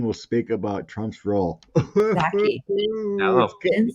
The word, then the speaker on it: Psaki: Paskey announced that Biden will speak about Trump's role. Psaki. Oh. and Saki. The P is silent.